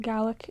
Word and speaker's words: Gaelic: Either in Scotland they pronounce it Gaelic, in Nova Scotia and Canada they pronounce it Gaelic. So technically, either pronunciation is correct.